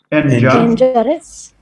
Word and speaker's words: injurious: Injurious. Again. Injurious. Injurious. That's it. Oh. Injurious. Injurious. But the first has injure. Stress on the first syllable. By adding OUS, it's shifted to the second syllable.